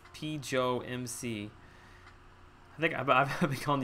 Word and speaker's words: PJoMC: By the way, name is pronounced PJoMC. I think I've been calling you, haven't I?